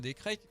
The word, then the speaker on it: Descraques: Voilà, par contre, on va parler de Deadland de François Descraques. Maintenant, ça se prononce à l'américaine.